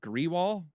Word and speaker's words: Grewal: It's Gurbir Grewal. It's an enforcement director. So who knows? That could be number 20. Spell it again.